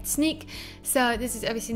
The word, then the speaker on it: Snyk: at snake dot io now it's pronounced sneak i thought at the beginning it's been a snake i just pronounced snook it's sneak sneak sneak